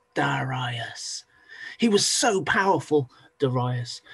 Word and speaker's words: Darius: looks like it's spelled Darius but it's actually pronounced daras daras he was so powerful dasas that he he